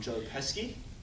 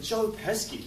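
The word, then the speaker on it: Joe Pesci: you don't joe pesky rhymes with esky aneski is another australian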